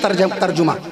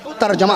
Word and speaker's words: ترجمہ: جیسے لوگ اکثر کہتے ہیں ترجمہ, ترجمہ صحیح تلفظ نہیں ہے, کبھی نہ کہیے گا ترجمہ, ترجمہ صحیح تلفظ ترجمہ ہے.